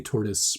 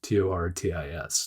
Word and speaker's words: Tortoise: And then finally, Tortoise Sportswear. Tortoise, Tortis, not tortoise like a turtle with legs.